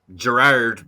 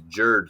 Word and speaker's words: Gerard: Like, my name is Gerard, but everyone in Ireland, that's why the guys refer to me as Jerd, Jerd, but my name should be Gerard, or like, I don't know how UK people pronounce it. I guess in Scotland it's usually Gerard. People would say like Gerard. Gerard. Yeah, or Gerard. Well, it's the whole thing. But Irish people always say Jerd.